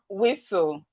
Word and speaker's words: whistle: We have listen. The T here is silent. The T is silent. We have castle. We have whistle. We have fasten. We have soften. Fasten, whistle, castle, listen. The T in these words are silent.